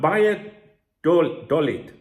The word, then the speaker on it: Valladolid: Now, I normally pronounce that Real Valladolid. But when I spoke to the owner of the cafe this morning, because he helps me with my Spanish, he said not Vaya. He said Valladolid.